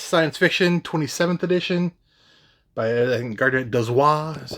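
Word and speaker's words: Gardner Dozois: Uh, I got the year's best science fiction 27th edition by Garnet Dwis.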